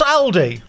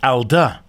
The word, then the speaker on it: Alde: I'm motor home Matt what's Aldi it's a it's a supermarket isn't it yeah so why are they on the mot home mat podcast this is Alder so it's all about how you say it so Alder are a